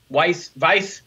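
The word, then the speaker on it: Weisse: Weiss, W-E-I-S-S-E, W-E-I-Z-E-N, Weizen, right. Weiss, they're very similar. They sound the same. We have a W that sounds like a V.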